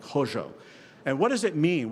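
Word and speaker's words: Hozho: about and it's a principle called Hojo h-o-z-h-o I'm not sure if I'm pronouncing that right but some of my Navajo teachers have pretty much that's about what it sounds like Hojo and what does it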